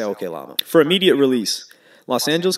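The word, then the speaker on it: Oklama: from the desk of okay llama or oklahoma oh no that's pronounced i say okay llama for immediate release los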